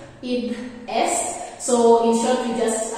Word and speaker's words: id est: So both words are, they do originate from Latin, and IE stands for the Latin word id est, so that is what the pronunciation is according to how I checked it, id est.